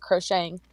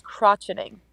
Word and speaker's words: crocheting: And so that's correctly how you pronounce it, crocheting. I pronounce it as crotch-e-ting.